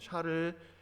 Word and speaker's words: 샤를: 이 발음을 조심해야 됩니다, 여러분. 샤를 10세.